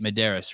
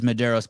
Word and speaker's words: Medeiros: madeira's uh uh breathe that is how i'm saying it right mederis right yep and all the everyone else in the world says mederos but they're wrong yes